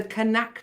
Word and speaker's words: Knaack: finals starting with the canac medley yes you're supposed to pronounce the k enactment i've been to